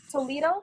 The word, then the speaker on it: Toledo: And he was placed by ASSE in Toledo. Is that how you say it? Toledo, Ohio? Toledo, Ohio.